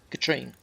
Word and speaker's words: Katrine: It's pronounced like Katrina without the a at the end. Katrine.